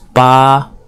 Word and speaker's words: 八: longer I drew right side longer hear the pronunciation is BA first on yin second tone and zu for